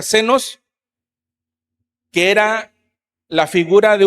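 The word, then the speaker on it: ξένος: El extranjero viene de una palabra griega significa o que se pronuncia senos, que era la figura de un forastero.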